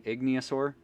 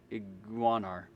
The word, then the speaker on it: Iguanar: Hissing Igniosaur, 2... I think that's how you pronounce it. Iguanar. Not even close to Igniosaur.